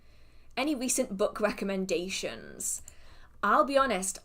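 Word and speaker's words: Rhysand: I never said recent. That doesn't feel right in my brain. I've always said ricend. And now I'm having to listen to recent be the name and the pronunciation that's used, and it's kind of hurting my brain.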